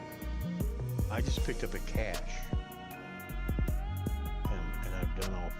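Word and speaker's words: cache: Some people mispronounce it cashache.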